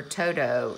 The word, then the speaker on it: Toto: from to do papel or Toto is how you pronounce it papel and if